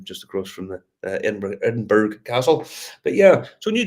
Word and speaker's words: Edinburgh: hotel room in in in Edinburgh edenburg as we pronounce um they're just hotel